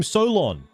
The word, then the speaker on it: Solon: I'm Solon. You know, rhymes with colon.